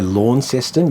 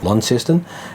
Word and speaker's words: Launceston: saying it right but if you say Launceston you'll get corrected down there right it's Launceston um and and the